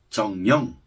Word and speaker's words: 정영: 엘리트를 중국어로 징잉, 한국식 발음으로 정영.